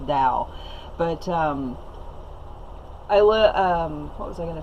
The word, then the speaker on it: Tao: I looked up the pronunciation online, it's actually pronounced Tao, but what was I going to say?